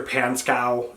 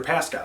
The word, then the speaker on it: Pascow: on with Dad uh Victor pancow is like what or like pancow P pcow like he's she's saying the name wrong and finally Rachel's like oh my God Victor pascow that's who you're talking about and so she's trying